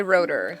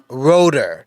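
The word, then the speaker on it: Roederer: Roder, is that how do I say that? There's going to be a lot of ways to say it, but we say Roder. Just roll the R. Roder, all right?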